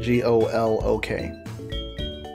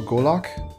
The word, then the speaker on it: golok: calling him gulag the way they spell it is g-u-l okay but the description of the weapon spells it g-o-l-o-k so golock oops all right